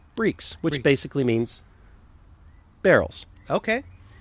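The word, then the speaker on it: barrique: how that's pronounced and apparently it's pronounced breaks which basically means barrels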